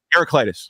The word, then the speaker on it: Heraclitus: was her herac what the how do you pronounce his name heraclitus heraclitus thank you hertis argued um I say